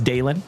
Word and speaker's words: Dalen: My name is Dalen. If you are new here, D A L E N like Dale plus N.